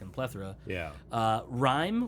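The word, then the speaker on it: Rime: Uh, Rhyme, which is R I M E, so I might be pronouncing that wrong, but I think it's Rhyme.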